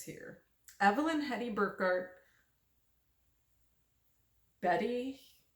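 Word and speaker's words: Beate: that's what it says here Evelyn Hedy burkart Betty it's spelled be a t hilbig and beatric Simon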